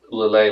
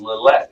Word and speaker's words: Lillet: to do this drink i talked about lalay last week and i was convinced it was lillette it is one of the most common mispronounced uh uh alcohol liquors out there and i've